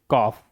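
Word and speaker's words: cough: अब देखिए कुछ ऐसे वर्ड हैं जिनमें जी एच का उच्चारण फ की तरह किया जाता है।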